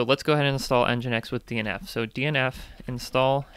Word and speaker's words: nginx: care of the l e is nginx it's spelled with an n but they say e for engine and because it sounds like an e so let's go ahead and install nginx with dnf so dnf